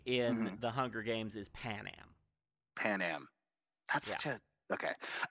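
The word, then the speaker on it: Panem: hunger games no sorry I slightly mispronounced that it's Pan Am okay p-a-n-e-m right on um but yeah for the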